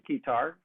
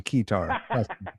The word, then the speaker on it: Keytar: Well, I mean, there'll be a heavy focus on Keytar, because it rhymes with guitar.